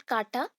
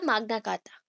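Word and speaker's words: Magna Carta: माग्ना कार्टा, that is नॉट काटा, माग्ना कार्टा, कार्टा।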